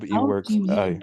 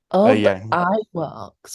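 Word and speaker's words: Iwerks: e works oh yeah e works pronounce that I works I think it's ey works yeah yeah name he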